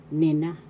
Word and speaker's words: nina: Nina, nina. That means them. Nina. First syllable ni, second syllable na. The accent is in the second syllable, nina, nina.